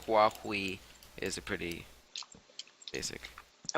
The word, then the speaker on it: Huawei: do you pronounce it walkway i mean it's it's aspirated and these sounds are sort of interesting for american pronunciation but still like just you know pronouncing it huawei is a pretty basic